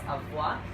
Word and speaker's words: Avua: now is called avoir I know some people always wonder how you pronounce it it's avoir um and they have a